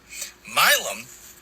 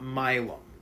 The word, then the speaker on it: myelin: Myelin is 100% made up of cholesterol. So it's actually pronounced myelin with an N at the end, not myelum.